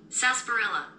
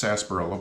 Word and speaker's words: sarsaparilla: for the pronunciation yes sasparilla so we say it's we say it right yeah so it the r is silent it is sasparilla but the r is silent that's kind of odd